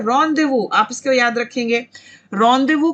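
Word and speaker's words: rendezvous: रॉन्डेवू, इस word की pronunciation क्या है? रॉन्डेवू, आप इसको याद रखेंगे।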